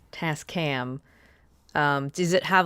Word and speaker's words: Tascam: you say it Tas task or t cam Tascam Tascam um does it have like a nickname like